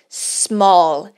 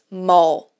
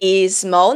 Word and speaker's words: small: a letra S e não tem nenhuma vogal ali no começo, nós não temos que adicionar nenhum som, tá? Então, small, small. A gente não vai falar small. Ok? Is small, não.